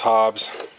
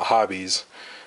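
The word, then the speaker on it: Hobbes: call it hops because Thomas Hobs spelled the same way bbes we call him Thomas Hobbs not hobbies and uh maybe that's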